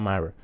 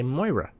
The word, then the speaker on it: Moira: videos about it's about Myra it's about Myra but not pretty sure she's pronounced Moira since I live in Ireland she does have an Irish name so yeah okay Moira I'm sorry I have